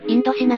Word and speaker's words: インドシナ: アジア一帯お札ぜインドチャイナはフランス語でインドシナと読むじぇインドと中国